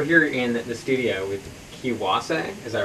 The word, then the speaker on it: Kiwase: We're here in the studio with Kiwase, is that right? Yeah, that's right. Kiwase.